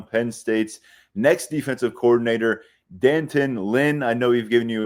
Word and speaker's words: D'Anton Lynn: with focus on Penn State's next defensive coordinator, Dantin Lynn. I know we've given you a few different pronunciations for his name. Danton Lynn is what we're going with right now because